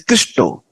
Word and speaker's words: Krishna: in India bengali's people when they use the word Krishna they pronounce it as Christo you may have heard